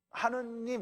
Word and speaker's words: 하느님: 하늘님이에요. 하느님, 그러니까 하늘님인데 그거를 연하게 발음을 하면 하느님이 되는 거예요.